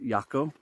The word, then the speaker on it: Jaco: Speaking with Jaco, it's spelled Jaco, and that's what I called him in the first impressions, if you saw that. It's actually pronounced Jaco.